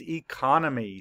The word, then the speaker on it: economy: And where's the schwa? It's that O, that's right. Econ-me.